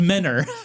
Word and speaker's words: Mentor: Mentor spelled M It's pronounced Menor.